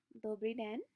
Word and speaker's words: Dobrý den: Dobrý den. I try to associate it with a little bit of a hand wave. That's how I learn. I don't know how you guys learn, but hello. Dobrý den.